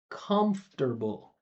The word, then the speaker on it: comfortable: But it's the same idea because we go from four syllables to three syllables. So if you can say this fir that will make it a lot easier. So you say comfort comfortable. Listen closely. Don't stare. Just listen. comfortable. Comfortable like that.